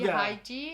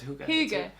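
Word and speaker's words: hygge: Happy Haiji. Huga. Haiji. No, it's Huga. Huga. That's it. We say Hüge in German, or I know, but it's Hüge.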